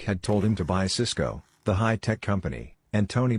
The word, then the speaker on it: Cisco: told him to buy cisco the high-tech company and tony bought cisco the food distribution company both stocks are pronounced exactly the same while cisco crashed cisco